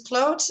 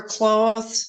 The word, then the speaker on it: Clote: So I have my dad's last name is Clote, and then or Cloth is the Americanized version, and then another family name is.